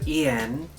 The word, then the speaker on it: Yên: And you know, another refresher, it's pronounced Yên because the Y in Vietnamese is pronounced like E. I came to the decision to choose Yên for my new name because it's always been like my unofficial Vietnamese name.